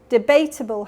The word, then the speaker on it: debatable: Debatable has second syllable stress.